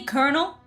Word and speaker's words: colonel: Kernel. Coronel. Cor. Like. And I think they spell it like corn coral. And they say kernel and it's coronal.